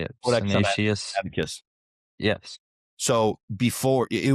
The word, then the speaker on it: Codex Sinaiticus: Codex Sinaiticus.